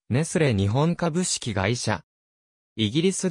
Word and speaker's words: ネスレ: などにおいてネスレを熱するのように発音することがある日本では 1994